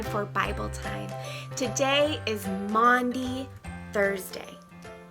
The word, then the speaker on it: Maundy: today is Maundy Thursday no I didn't say Monday Thursday though it does sound like that Maundy Thursday is what we call the Thursday of Holy Week Maundy is spelled ma you n D Y and it comes from